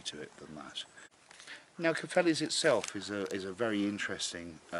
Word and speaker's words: Cefnllys: Now it's spelt a very strange way to some people, I guess. But from the Welsh quadrant, it's actually a perfectly good spelling. It's Cefnllys.